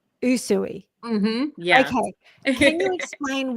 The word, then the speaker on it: Usui: Okay, I have to look at my notes so that I pronounce this correctly. She is a Yuzui Raiki master and you can correct me if I've pronounced that incorrectly.